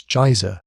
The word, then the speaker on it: geyser: The geyser, a word the Icelanders pronounce geysir, and which signifies fury, rose majestically from its summit.